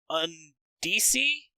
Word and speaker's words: Undici: First up in the crowdfunding, I had to look up how to pronounce it, and it's basically Undici, which is Italian for 11 or something like that, but it's like UND1C1.